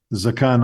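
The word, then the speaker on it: זְקַן: If you said in modern Hebrew, Zakan Aharon, you'd be understood. If you say Skan Aharon, that's the more proper way of doing it.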